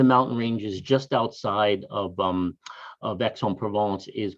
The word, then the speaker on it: Aix-en-Provence: Hope that answered your question, but it is Aix-en-Provence, in case you're worried about the pronunciation.